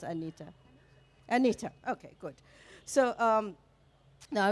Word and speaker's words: Anita: How do you actually in Australia pronounce Anita? Anita, okay, good.